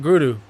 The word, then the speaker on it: guru: Jupiter is the guru, but it's more so pronounced guru. Guru. I'm trying to get the pronunciation proper. Guru. It's like the R, you do a duh, like guru. Because the R in the Sanskrit, there's a duh.